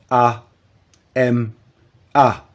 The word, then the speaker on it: Ama: La lettre H se prononce A. Nous obtenons donc A M A qui se lit ama.